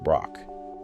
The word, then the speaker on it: Braak: The neuropathologist Heiko Braak, pronounced Braak, had proposed in 2003 that Parkinson's pathology begins in the lower brainstem and ascends.